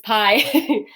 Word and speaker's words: pi: been more of P, because the iota doesn't make the I sound in Greek. Now this, again, if you're familiar, or eventually in math, you will see pi more frequently, but this is pi.